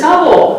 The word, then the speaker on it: Hubble: It is Hubble. It's Hubble Bubble. Yes. Hubble Bubble cuz it rhymes.